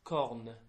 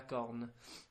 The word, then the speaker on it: corne: on a bull, is corne. Corn? Yeah, a bit like corn on the cob, but with an E on the end. Corne. La corne.